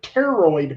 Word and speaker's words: pteroid: This is super long, and then their thumb is evolved into what's called the pteroid bone, spelled with a PT, hence because pterosaurs, pteroid bones.